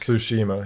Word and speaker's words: Tsushima: do you say goes does Tsushima I think Tsushima yeah that's right you don't play so Shima